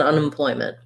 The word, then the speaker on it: unemployment: on unemployment in an unemployment i would say that one we can't link quite as much because unemployment has two unstressed syllables before we get to the ploy on an unemployment unemployment